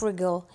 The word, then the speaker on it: wriggle: which is wle wle the W is silent what's the meaning of rle in Arabic is to